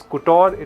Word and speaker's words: couture: Sometimes it's couture, sometimes it's couture, but it's actually couture.